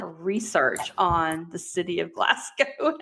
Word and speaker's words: Glasgow: I spent more time than I probably should have on how to pronounce Glasgow? Glasgow. It's actually Glasgow.